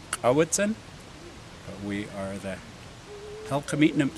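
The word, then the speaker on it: Cowichan: So I'm from Kawichen. Our valley is named, although today they mispronounce it. It's Kawitzen, but we are the Halkamitnam speaking peoples of southern Vancouver Island.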